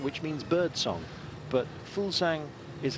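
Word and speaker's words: Fuglsang: Jakob full sang who apparently that's how you pronounce his name I asked him once um you can say Fugal Zhang which means bird song but foolsang is how he likes it yeah well that's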